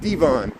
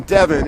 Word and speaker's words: Devon: and said it wrong I should have stuck with Devon and that's how I said it first and I got the videotape to prove it because I was recording since Howard and at first I was saying Devon and someone said you're saying it wrong and then I started saying Devin and that's everything I